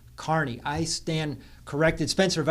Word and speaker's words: Kearney: She's an Irish girl, obviously, and her name for years we've been pronouncing it Kearney. Well, it's an Irish name. It's Gaelic. Pronunciation is Kearney.